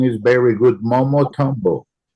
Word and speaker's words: Momotombo: Glenn, don't worry, your pronunciation is very good. Momotombo. Momotombo.